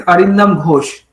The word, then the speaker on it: Arindam Ghosh: So yeah, Yes, actually, like I told the professor name correctly, but the surname wrong. So it's Arindam Ghosh.